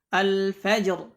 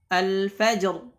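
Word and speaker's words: الفجر: ini dalam keadaan waqaf, maka ra-nya juga dibaca tebal. Contohnya adalah al-fajr, al-fajr.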